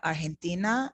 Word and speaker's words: Argentina: And if you notice, I said Argentina. Remember this pronunciation we went over? Argentina. Ha. Argentina. And in this case, you are using this pronunciation for the letter G.